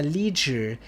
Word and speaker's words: Li Zhi: So this person here, Li Zhi, he is also sometimes spelled like this, C-H-I-H. This is the same pronunciation.